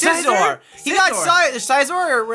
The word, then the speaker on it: Scizor: He got Scizor, or how do you pronounce it?